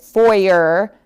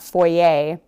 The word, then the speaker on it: foyer: However, the word foyer is also from French, like the last few words, but we do pronounce it foyer and not foyer.